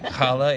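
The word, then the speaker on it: challah: we she brought in Hala is that right is that how you say it the bread yeah okay I want to make sure Hala yeah and um yeah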